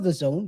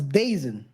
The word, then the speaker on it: DAZN: day is at n I don't know people pronounce it very differently before I knew how it was that that was the Zone because it's written the D e a z n I thought it was basin I don't know I'm